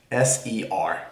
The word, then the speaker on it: ser: little better so yeah that's how you say it s e r ser which means to be